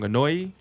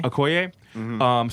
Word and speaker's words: Okoye: So, forgive me if I get her name wrong. Anoi, You talking about AEYO? The character name? Denai's character. Yeah. Okoye? Okoye.